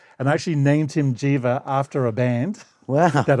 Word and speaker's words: Djiva: His name's Jiva, and I actually named him Jiva after a band. Wow. That I was in. That's spelled DJIVA.